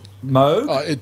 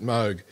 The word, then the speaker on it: Moog: article you know that that movie is supposed to be pronounced more like mode both of them are acceptable Robert Moog Robert Moog says that parts of his family pronounced at mug but it's a northern European name anyway so yeah and his family pronounced it alternatively so it doesn't really matter okay very nothing so tell